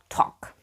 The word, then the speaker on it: talk: person let's talk now look at those words written as you can see the letter L in them is silent let's practice pronunciation walk